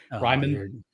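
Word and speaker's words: Reiman: Tip Riemann, I think is how you say it. Ryman.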